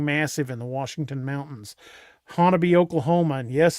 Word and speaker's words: Honobia: Hannon, Oklahoma. And yes, it's pronounc it's spelled Hanobia, but it's actually pronounced Hannon.